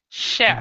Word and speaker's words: chef: But this word it's more like it's a soft ch, so it's chef. Mm-hmm. Okay, now Chef. the chief, like you have a fire chief, the commander in chief, that's a stronger ch, and then this is like an e, chief, Uh-huh. e. Chief. There's Yeah. chef and there's chief. Uh-huh. Chef and chief.